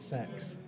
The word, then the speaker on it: CeX: CEX pronounced it sex.